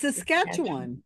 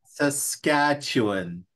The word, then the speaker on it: Saskatchewan: like that Washington it's Saskatchewan it's just it's Saskatchewan Saskatchewan that's what I just said the capital of